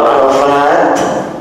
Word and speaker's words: Arafat: ya nah ini Ara kalau arafahnya tidak pakai Alim dibacanya pendek kalau Arafat banyak pakai Alif dibaca panjang dan ada namanya perlu